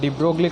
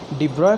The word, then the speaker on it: de Broglie: तो आज हम पढ़ेंगे डुअल नेचर ऑफ इलेक्ट्रॉन, जिसको हम बोलते हैं डी ब्रोगली कॉन्सेप्ट और इसको आप प्रोनाउंस करते हैं डी ब्रोय कॉन्सेप्ट।